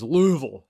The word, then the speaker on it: Louisville: or Louisville it is Louisville you got to say it like a you're a like a southern man LEL I got a